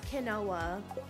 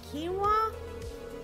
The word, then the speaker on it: quinoa: my gosh my mother-in-law she pronounces quinoa as kenoa she's like yall want some Canoa I'm like huh she like Canoa you know those like little rice thingies I was like you mean quinoa she's like oh yeah